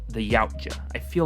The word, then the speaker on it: Yautja: But I feel like in this specific case, it's good to know that they're called the Yautja. I feel like that's the correct pronunciation.